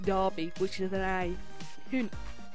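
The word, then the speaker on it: Derby: mentis sound like like Darby it's spelt with an E why is it spelt with an E when it's pronounced Darby which either than a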